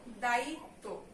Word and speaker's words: দায়িত্ব: তয়ের সঙ্গে যেহেতু ব আছে তাই তয়ের ডাবল উচ্চারণ হবে। এখানে দেখো বিদ্যান আছে, দয়ের সঙ্গে যেহেতু ব আছে তাই দয়ের ডাবল উচ্চারণ হবে। তাহলে আমরা কি লিখবো, দায়িত্ব। দায়িত্ব পর্যন্ত একটা উচ্চারণ, তারপরে তো।